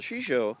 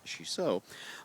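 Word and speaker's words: shiso: Mikaya and shisha well the shisha Sho I should say I kept pronouncing it wrong she so um peria also called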